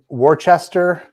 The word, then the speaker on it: Worcester: Pronounced Worcester.